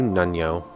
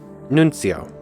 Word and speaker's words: Nuncio: Nuncio. I forgot the C at some point when I was reading it out. Might as well pick up another port report.